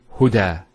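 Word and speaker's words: هدى: Now this is not actually a ya, it's an alif. It's called an alif maqsura, and it's exactly like an alif, the way it's pronounced. It's like a ya, without the 2 dots.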